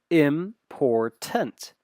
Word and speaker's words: important: Okay, so we have this word important that is three syllables. Important. You kind of take three pauses. Important. It's not infants. You got those syllables. Important. 1, 2, 3.